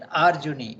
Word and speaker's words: Arjuni: Okay, Arjuni is the son of Arjuna, so you have to pronounce it Arjuni. It becomes the, it takes a vriddhi. There is the, it takes a vriddhi. It becomes Arjuni, the white one, child